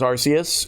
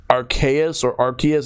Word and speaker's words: Arceus: I don't know which one it is, but I've been pronouncing it as Arceus, even though apparently Arceus is the correct pronunciation.